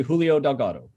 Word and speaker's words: Julio Delgado: Jeremy, did I pronounce correctly, or is there a different way? Nope, you did. You pronounced his name correctly, Julio Delgado. Congratulations to Julio. Probably Julio Delgado, but I suppose that works. Thank you. Yes, my bad, no Spanish accent, English version. I try.